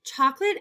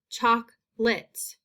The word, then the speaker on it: chocolate: you think about chocolate chocolate actually has different syllable sounds chocolate choc lit what i'm hearing though is i don't hear along a sound it's almost like lit that makes this word